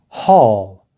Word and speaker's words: haul: a rabbit number five these two words are both pronounced hall write them down a